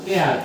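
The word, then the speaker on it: heir: এয়ার, এটাতে কিন্তু আমরা হেয়ার বলবো না, এটা উচ্চারণ হলো এয়ার, এইচ দিয়ে শুরু হয়েছে।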